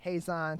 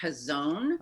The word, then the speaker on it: Hazon: in normal times does Hays on Detroit do difficult to remember those normal times first up I just want to clarify it's actually pronounced his own oh no problem we